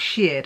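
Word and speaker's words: shirred: And uh now you call it shared. I I've always called it shared. S H I R E D. And that may be a northeastern way of pronouncing it, but shared panel.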